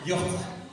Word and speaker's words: Jordi: Et donc il dit c'est pas grave, on va mettre un Y et comme ça il n'y aura pas de problème de lettrage et ça fera même la bonne prononciation Yordi.